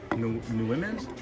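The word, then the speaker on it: Nuimos: Is that how you pronounce it? It's Numos. Numos.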